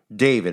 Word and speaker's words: D4VD: D4VD is how he spells his name, but it's pronounced David.